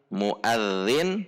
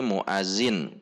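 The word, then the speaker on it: مؤذن: Contoh aplikasinya misalkan muadzin menjadi muazin, atau alladzi menjadi allazi, atau allazi.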